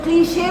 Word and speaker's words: cliche: जब आप words बोलते हो, जैसे cliche, CLICH, तो अगर आप बोलोगे cliche, CHE को आपने श बोल दिया तो cliche बोला जाता है।